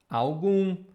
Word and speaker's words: algum: Okay, this one is also very simple because in English you have this beautiful word, moon. It's the same pronunciation here. Moon, algum, nenhum. So here we have the number one. If I would write for English speakers, I would write like this. Like the same sound as moon.